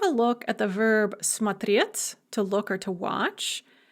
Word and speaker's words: смотреть: So we have смотреть with the stress on the second syllable in the infinitive. Я смотрю, the stress remains on the second syllable. But ты смотришь. Now the stress is going to shift to the first syllable and it's going to remain there for the rest of the paradigm.